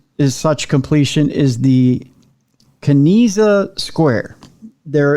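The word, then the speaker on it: Kanizsa: example of this is such completion is the kinesa square there it's spelled k-a-n-i-z-s-a square there are only four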